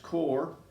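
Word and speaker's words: Qor: I'm using core watercolors it's q r pronounced core that's made my golden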